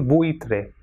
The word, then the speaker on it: buitre: And if this U and I will come together, so when the two weak vowels U and I come together, it will be pronounced as ui. For example, buitre. So buitre will be pronounced as buitre.